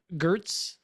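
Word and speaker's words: Giertz: Oh, Simone Gertz. There you go. It's pronounced Yetch because she's Swedish.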